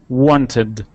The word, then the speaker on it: wanted: wanted try that wanted wanted want all right let's let's try that that let's try turning that t into a D sound Wanted Wanted Wanted Wanted